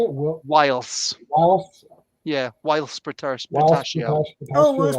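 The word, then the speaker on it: Whilce: Whilst.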